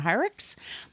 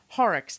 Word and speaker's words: Horrocks: assistant which is Jane I always say her name wrong James hyrux Horrocks horror yeah Horrocks so she's uh she